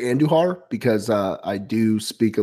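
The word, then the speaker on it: Andújar: I'm gonna say Andujar because I do speak a little bit of the Spanish tongue. I'm gonna say Andujar, silent J.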